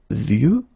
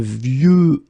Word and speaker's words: vieux: And the last one is vieux, old. Un vieux arbre. Okay, of course you've got this X at the end, but you don't pronounce it.